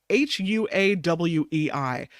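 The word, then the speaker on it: Huawei: do you spell that she says it's Hua Wei it's a Chinese Tech Giant Hua why hu a w EI and the phone is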